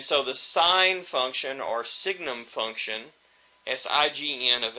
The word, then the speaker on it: signum: the sign function si we call it the signnum function. So you should really pronounce this the signum function.